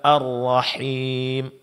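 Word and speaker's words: الرحيم: Begitu juga arrahim. Arrahim di sini ra ditebalkan dan tasdid dijelaskan. Makhraj huruf ha dijelaskan.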